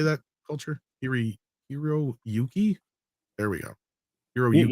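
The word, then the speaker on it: Hiroyuki: hak how do you say that culture hiri hero Yuki there we go hero Yuki yeah yeah you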